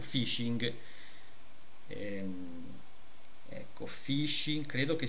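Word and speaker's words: phishing: ci sono che è venuto un dubbio di pronuncia, almeno quando si può dirlo correttamente. Ascolta, Fishing.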